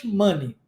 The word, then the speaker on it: money: muito amor envolvido love money para fecharmos essa página pronúncia Man money o o com som de a isso é extremamente comum